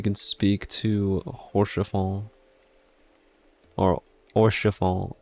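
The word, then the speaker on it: Haurchefant: Okay, so tune to the crystal first and then we can speak to Horschafal or O oral since the H is not pronounced.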